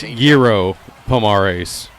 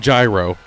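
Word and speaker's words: Jairo Pomares: His name is pronounced Yurro Pomares, not gyro.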